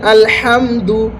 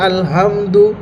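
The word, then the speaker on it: الحمد: যেমন হচ্ছে ছোট হাদি আমরা যদি পড়ি তাহলে সেখানে হচ্ছে আলহামদু মানে হচ্ছে সমস্ত নিকৃষ্ট।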